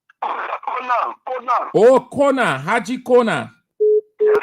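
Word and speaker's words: Konah: My name is Aji Kona from Bomikante. Archie? Yeah, Aji Kona from Bomikante. Well, pronounce it well. Aji. Haji? Yeah, Aji. Haji, Haji. Yeah. Haji. H-A-G-R? H-A-G-R. H-A-G-R. Haji what? Kona. K-O-N-D-H. Kroma? Kona.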